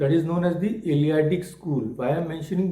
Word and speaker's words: Eleatic: It is written with a T, Eleatic, but it is pronounced as D. So that is known as the Eleatic school.